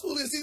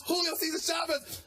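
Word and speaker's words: Julio César Chávez: like magic was like oh it's Julius oh he said but pronounce my boy but it's Julio season Shoppers for pronounce my boy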